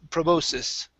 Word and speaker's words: proboscis: Instead of bulbous, it's bulbous, and proboscis.